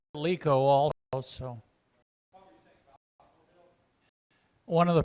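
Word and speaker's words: LeEco: I'm pronouncing it Liaco. It may be different. I don't know. It's out. Oh, really? It's the Capital L, E, capital ECO. So I Lico also.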